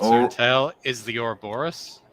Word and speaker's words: Ouroboros: So the snake biting its Or- own tail is the Ouroboros, Ouroboros.